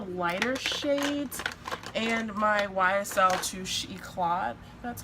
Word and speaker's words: Touche Eclat: one of the lighter shades and my YSL Touche Eclat, that's how you say it.